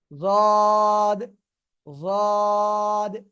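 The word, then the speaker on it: ض: না ওকে লেগে থাকতেছে ওই অবস্থায় আমরা উচ্চারণ করবো এই যে জদ জদ ঠিক আছে জদ জদ ওকে খেয়াল করবেন এরকম যেন উচ্চারণ না হয় দ ঠিক আছে এটা উচ্চারণ করা যাবে না বুঝতে পেরেছেন ওকে আমরা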